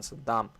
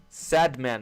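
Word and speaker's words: Sadman: That's not low resistance liquidity run, Saddam. Sad man, not Saddam.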